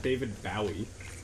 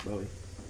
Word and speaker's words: Bowie: It's pronounced bow. Bow. It's not David Bowie. No, it's not. It's Bowie. Exactly. Like bow, bow, wow, yippee, oh, yippee, like that. That's how you remember.